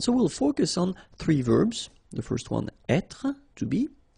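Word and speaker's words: vert: remember rou ver so masculine form don't pronounce the final T ver feminine form ver so listen carefully I don't say t but it's t ver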